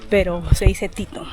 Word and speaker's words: Teton: Le parc s'appelle Grand Teton. Eh bien, « tetón » se prononce comme ça… euh… « tetón », c’est un mot un peu bizarre, mais ça se prononce « Titon », le nom des